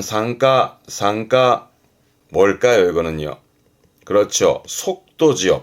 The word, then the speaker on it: 参加: 앞에게 참자라 이게 참가하는 발음은 상가 상가 뭘까요?